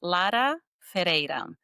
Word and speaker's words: Lara Ferreira: It's Lada Ferra. You we'll put that below, but go ahead and spell it.